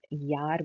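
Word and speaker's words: Jahr: यहाँ पे आप दे सकते हैं कि जे जो है वो हम इंग्लिश वाई की तरह प्रोनाउंस करते हैं, यानी कि आप यहाँ पे जार नहीं बोलेंगे, आप यार बोलेंगे।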